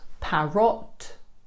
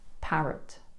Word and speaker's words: parrot: Not parrot, but parrot.